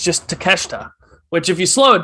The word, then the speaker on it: Takeshita: wrong the entire time so right it's just takeshita which if you slow it down i can see why that pronunciation is formed from that spelling but yes